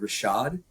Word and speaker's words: RVSHVD: One, I'm going to go with Rashad, which is spelled RVSHVD for those people who might be looking him up and going, I don't understand how this works.